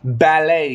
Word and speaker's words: ballet: to the top 10 ballet guys b a l l e t the t is silent English guys English I